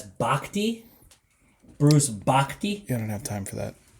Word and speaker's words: Bochy: So if you were on Baseball Reference, as you said, they have this lovely pronunciation guide for everybody, and that's Bochte.